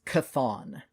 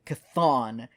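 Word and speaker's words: Chthon: hold was created by I've always pronounced it as cathon it is CH h t h n so pronounced similar to cthulu yes so the dark hold was created by cathon and contains all of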